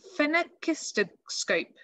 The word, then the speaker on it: phenakistoscope: So this one, when I say it slowly, is a phenakistoscope. Phenakistoscope. I did look it up to check I was pronouncing it correctly.